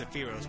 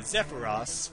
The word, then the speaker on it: Zephyros: i figured out that his name is not pronounced saphiros but zepharos for uh obvious reasons